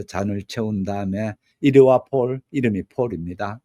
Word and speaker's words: Paule: 채운 다음에 이르와 폴이 폴입니다. 남자 이름의 폴이 아니고 P A E 이렇게 돼서 폴입니다. 영어식 이름에서의 폴은 대부분 그 남자 이름이거든요. 예를 들어서 영어식 이름에서 폴린 폴린이 되어지면은 여자 이름이 됩니다. 그런데 여기서 발음은 같은 폴일지 모르는데 여자 이름인데 폴로 그렇게 나와 있습니다.